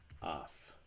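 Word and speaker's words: αυ: if you have to if the consonant that follows alpha epsilon is a T it's not voiced because I'm not using my vocal cords to make the sound my vocal cords are not vibrating so we would make oft we would make the sound so if we have this example of those the top here is voiceless so the the Alpha Epsilon would make the sound off if on the other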